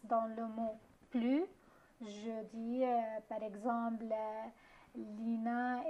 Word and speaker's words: plus: Mais quand la comparaison porte sur un nom ou bien un verbe, sur la quantité, on prononce le S dans le mot plus, d'accord?